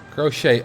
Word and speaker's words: crochet: I mean, there is no T in the word. Oh, crocheting. Crochet. Oh, crocheting. That's weird. So that T is actually silent.